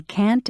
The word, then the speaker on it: can't: Notice how the T in can't and shouldn't is not strongly pronounced.